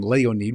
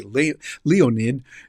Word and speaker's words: Leonid: That's how you'd pronounce it in Russian, Leonid. We'd say Leonid here in the United States, but they pronounce it there.